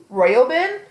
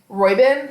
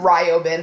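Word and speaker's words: Roiben: basically follows K and royin I believe that's how you pronounce it royin yeah I was calling him Rin for the longest time but I realized that it's it's r o not r i um I I however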